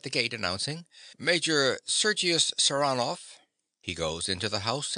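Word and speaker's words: Saranoff: him round this way he pronounces the name with a stress on the second syllable saranov nicola yes sir he goes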